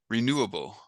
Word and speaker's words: renewable: first column oh okay renewable renewable yeah so the base word the root word is new and you put the accent on it so renewable renewable yeah